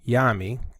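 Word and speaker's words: Nyame: the sky god yami or well anyami or yami the n is silent is the greatest of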